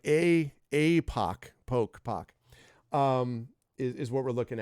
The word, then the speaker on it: Epoch: I used to think it was epoch, and then epoch, Tupac. I think it's epic, right? But it's not epic. It's APOC. So like APOC, poke, is what we're looking at.